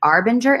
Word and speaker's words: Arbinger: He's also received licenses to facilitate the work of the Arbinger Institute. Am I pronouncing that correct?